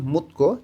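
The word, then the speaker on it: 묻고: দিউত বাচ্চিমের পরে যখন গেয়ক আসে তখন এই গয়ের উচ্চারণটা কয়ের মতন হবে। উচ্চারণটা হয়ে যাবে মুতকো জিজ্ঞাসা করা এবং থেদাভালসু ইত্তা উত্তর দিতে পারা।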